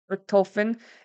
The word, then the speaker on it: Richthofen: Richthofen, a German fighter pilot and World War I hero.